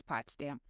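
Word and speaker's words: Potsdam: Yes, pots dam. I'm I'm really sorry. I'm really sorry. I don't pronounce anything.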